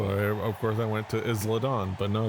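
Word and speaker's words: Isla Dawn: names I realize that it's uh it's Isla Don not isladon foreign yes oh yeah because I don't watch the product so I don't I've never heard it pronounced so I'm like it's eyelidon but because I look at that word and I Me growing up with Spanish speakers I think Isla so of course I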